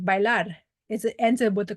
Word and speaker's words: bailar: And then there's B1 words, which is like bailar. It ends up with the consonant that's not NRS. Bailar, the stress is on the AR, so there's no written accent.